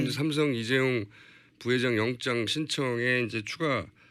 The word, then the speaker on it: 이재용: 최순실 씨가 이재용 부회장 이름을 이재룡이라고 주로 발음한답니다. 그래서 이재룡이 VIP 만날 때 말 사준다고 했는데 왜 빌려주냐 이렇게 화를 냈다라는 빌려주냐, 겁니다.